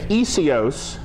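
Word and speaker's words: Iesous: So a transliteration is where you take isios, the way it's pronounced, and then spell it out as best you can in English, which would be I-E-S-O-U-S.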